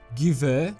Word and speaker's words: Gewehr: But some of my favorite guns include the Maz 36 and Gewehr. Seriously, like, why is it spelt with a W? I know in German, W is pronounced as a V, but if we're gonna